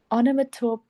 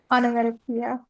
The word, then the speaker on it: onomatopoeia: Onomatope. I cannot pronounce that. Onomatopoeia. Okay, that's how you pronounce it.